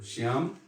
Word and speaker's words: Shyam: And there's a difference between the two in terms of how you pronounce them. One is Shyam, that is Krishna, and the other is Shyama, Srimati Radhika.